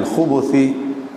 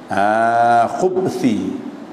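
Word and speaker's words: الخبث: Aku minta lindung dengan dikau minal khubuthi bi dhammil kha, bacanya khubuth bi dhammil kha ma'a dhammil ba, baca dia dhammah kha dhammah ba, au sukuniha ataupun sakinnya sakin ba. Khubthi.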